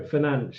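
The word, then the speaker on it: Fernandes: say it then pretty sure it is Bruno finan that's how you say finan I pretty sure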